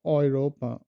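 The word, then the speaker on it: Europa: এ উ এটার উচ্চারণটা হয় অয়, মানে বাংলা হলো অয়, যেমন ভয়, এটা হলো ফ্রয়েন্ড, ফ্রয়েন্ড, ফ্রয়েন্ড, ফ্রয়েন্ড, অয়রোপা, অয়রোপা। এ উমলাউট আর তারপর হলো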